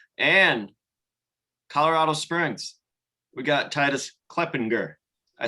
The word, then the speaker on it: Titus Kleppinger: We got Titus Kleppinger. I said it right, right? Yes, absolutely. Titus Kleppinger.